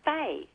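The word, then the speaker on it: Fahey: And my surname, believe it or not, is Fay. Mm. Oh, So Which- I am Fay. Which is normally a Christian name, yeah. Yes, well, it's F-A-H-E-Y, which is Irish.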